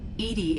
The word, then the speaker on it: EDI: why are you named Edie Edie is the phonetic pronunciation of EDI that is an acronym for enhanced defense intelligence where are you